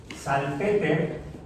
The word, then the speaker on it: Salpeter: No, un artículo en 1973, Sagan y Salpeter, así se pronuncia porque era alemán, bueno, era de origen alemán, un colega de Carl